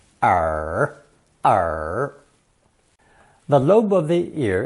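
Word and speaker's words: 耳: the squarish modern version pronounced third tone r r the lobe of the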